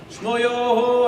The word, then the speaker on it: Schmoyoho: Schmoyoho, accent on the yo.